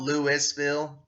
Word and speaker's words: Louisville: By the way, it's spelled Louisville, but here in Kentucky we call it Louisville.